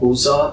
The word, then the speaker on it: Busza: She was born in a small town called Buza. It's spelled Busza.